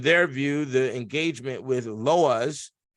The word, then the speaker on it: loas: view the engagement with loas that's how the lowest is spelled l-w-a-s or l-o-a-s amounted to a pack